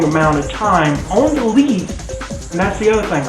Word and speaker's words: lees: Some people say leaf, some people say lees. It is pronounced leaf, but it's spelled L-E-E-S.